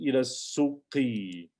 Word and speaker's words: إلى السوق: And notice also it's a sin, which is from haruf shamsi, it's a sun letter. So ilas, ilas. So it goes right to the sound of the lam and the sin, they merge together. So it goes straight to it. That's why you see the shadda there.